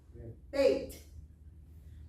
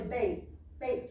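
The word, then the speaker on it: בית: But before they started speaking it, they said, well, if it doesn't have a dot, it's a soft sound, right? So what would be a T soft sound? TH. TH. So that's how we got Beth. So it'll say Beth Torah on there, but it's really bait Torah.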